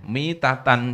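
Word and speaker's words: مِيتَة: mati ya mitatan jahiliah di situ bukan bacaannya maitat tapi mitatan. Kalau maitah artinya bangkai. Kalau mitah itu kondisi atau halnya mati itu seperti kematian saat jahiliah. Nah, kalau di sini bacanya bukan mitatan, tapi maitah, bangkai.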